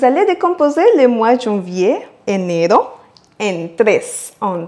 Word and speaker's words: enero: Et le R en enero, c'est un R simple, donc pas fort, car il est au milieu du mot. Enero. Et pour perfectionner votre prononciation, n'oubliez pas d'accentuer sur le deuxième E, enero.